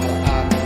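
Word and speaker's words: آلآن: ayat 91 yang bunyinya al-ana wa qad asyaita qablu wa kunta minal mufsidin. Nah, cara membacanya sama seperti tadi yang terdapat dalam Quran Surat Yunus ayat 51, yaitu dipanjangkan al-ana itu, yang artinya al-ana wa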